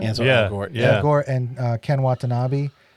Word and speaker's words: Ansel Elgort: Ansel Elgort.